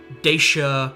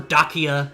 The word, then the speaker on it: Dacia: mean building programs welfare the conquest of Dacia or dakia if you want to pronounce it that way um of which trajan's